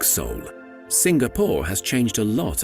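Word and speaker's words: Seoul: to host important sporting events this is soul one of the oldest cities in Asia do you hear the pronunciation Soul yes it's like the soul of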